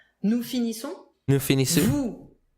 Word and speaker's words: finissons: And then the typical O-N-S ending, nasal sound. Nous finissons.